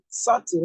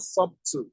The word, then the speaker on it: subtle: is the K silent this is subtle not sub not sub as many of